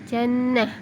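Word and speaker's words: جنة: dibaca sukun atau mati contoh tertulisnya jannatun dibaca Jannah Al khor yang aduh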